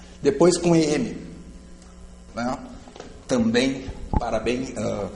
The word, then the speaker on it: parabéns: E com ENS, parabéns. Parabéns. Parabéns. Sílaba tônica acaba com ENS.